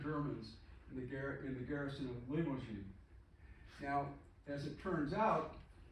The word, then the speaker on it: Limoges: And so here's Limoges is how you say it.